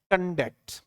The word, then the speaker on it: conduct: तो यहां ये वर्ब है, और जब वर्ब है तो इसका सही प्रोनाउंसिएशन जो है वो है कंडक्ट, ये इसका सही है, ठीक है। वर्ब है तो इसमें स्ट्रेस कहां लगेगा, स्ट्रेस दूसरे सिलेबल पे लगेगा, यानी इसमें तो यहां